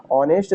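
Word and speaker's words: honest: इसको यहां पर समझते ऑनेस्ट शब्द की शुरुआत भले ही यहां पर व्यंजन से होती है।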